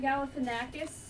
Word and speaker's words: Galifianakis: Zach Galifianakis guy.